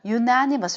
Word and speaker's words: unanimous: 따라서 요거는 unanimous가 아니라 unanimous 이렇게 발음해요.